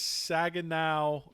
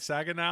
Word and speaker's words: Saginaw: course so uh so where is sagan now am i saying it right saginaw saginaw saginaw michigan where is that uh